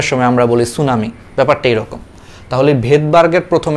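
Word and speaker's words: tsunami: ইসের মতো, সুনামির মতো, সুনামির আগে দেখবে একটা টি আছে, এটা জাপানিজ শব্দ, জাপানিজ থেকে আসছে ইংলিশে, এই জন্য সামনে টি আছে, বাট এটা আসলে উচ্চারণের সময় আমরা বলি সুনামি, ব্যাপারটা এরকম।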